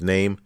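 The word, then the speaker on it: Noem: name is name right n-o-e-n-o-e-m is pronounced name uh i want to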